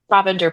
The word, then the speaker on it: Provender: Provender Press.